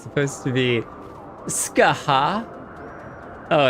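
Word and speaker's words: Scáthach: According to those weird Irish, it's supposed to be Skaha. Oh, it's like Skaha. It's the Skaha. No, it's like you're trying to say scar, but you're kind of coughing it. Skaha.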